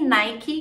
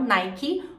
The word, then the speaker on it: Nike: diferente ele vai e Nike em inglês você pode dizer tanto Nike com esse hino final Nike ou nike nike vai depender da região ray-ban mais uma vez